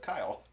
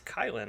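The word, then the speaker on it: Kylen: I picked up uh kylin granson the tight end for the Colts kylin or just Kyle it's kylin I have it right here it says kylin on our little thing right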